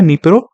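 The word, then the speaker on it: Dnieper: नबे river निप्रो river जिसको हम बोलते हैं निप्रो या फिर निपर भी बोलते हैं प्रोनाउंस इसको निपर कहते हैं ठीक है द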